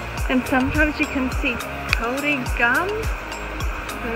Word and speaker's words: kauri: Kauri tree.